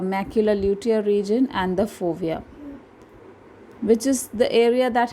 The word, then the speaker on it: fovea: आपका लिखा होगा लोविया, लेकिन एक्चुअल में इसका स्पेलिंग है FOVEA.